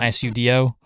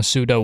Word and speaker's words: pseudo: It actually took me so long in life just to understand that the pseudo in pseudowudo is like psuo not sudo. It's like you know pseudo wood.